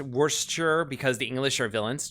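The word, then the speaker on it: Worcester: H oh uh John saying uh and it's pronounced Worster because the English are villains true wor okay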